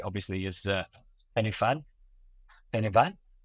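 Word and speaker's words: Pen y Fan: And if they're English, they probably call it Penny Fan. Um, which I'm sure you've heard plenty of times, but you're pronouncing it correctly, obviously, is uh Penny Fan. Penny Van, how do I pronounce it properly?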